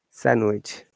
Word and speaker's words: sandwich: pledge garage and that is also not pronounced in the following common words handsome handkerchief sandwich also the d is